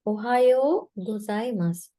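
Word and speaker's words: おはようございます: මෙතන යෝ කියලා දැන් අර long vowels වලදී කරා යෝ කියලා මෙතන දීර්ඝ ශබ්දයක් ඇදෙනවා. ඇදෙන sound එකක් තියෙන යෝ. ඒ නිසා තමයි යෝ වලට ඌ එකක් ඇඩ් කරලා තියෙන්නේ. ඒකට මේක ප්‍රොනවුන්ස් කරනකොට යෝ ඌ නෙමෙයි ප්‍රොනවුන්ස් කරන්නේ.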